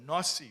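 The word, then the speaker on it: נשיא: So the Rebbe says, I'm sorry that I'm not addressing you with that title, but that word, Nasi, or Nasi, we would say Nasi, how we would pronounce it.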